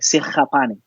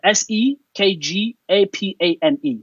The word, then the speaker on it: Sekgapane: Well, in my home language, which is Sotho, Yeah. we pronounce the KG as so like a German way, like Sekgapane. Okay. So it's a Sekgapane, Sekgapane, and Levy is the English the English way.